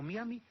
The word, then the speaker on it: Miami: Ahora, si sabe pronunciarlo, pues que lo pronuncie, que lo pronuncie bien. Shakespeare. Ahora, en cuanto a Miami o Miami, puede decirlo de ambas maneras, porque en español está aceptado tanto de una como de otra manera.